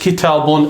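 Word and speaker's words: كِتَابٌ: So the reason why it is pronounced kitabun and indeed written kitabun is because that ismun is left alone, meaning there is nothing acting upon it.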